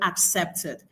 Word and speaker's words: accepted: Now for accepted the the um the stress syllable is on the second syllable. Why is this? What is the science behind this? The science behind this remember what I said earlier. When you have two syllable or dicelabic verbs, the stress rule states that the stress should be on the second syllable. That is what is still retained in the word accepted.